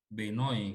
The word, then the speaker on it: Bernoulli: Ini katanya sih cara bacanya Benoy katanya ya. Benoy, itu Bernoulli aja deh saya sebutnya. Sekarang perhatikan dulu kasus yang kita tinjau.